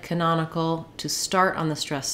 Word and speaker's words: canonical: be short Canon but when we change to canonical the syllable stress changes and our vowel sounds change now it's our letter A that has the reduced schwa that sounds like uh because we stress on the non-syllable and so um in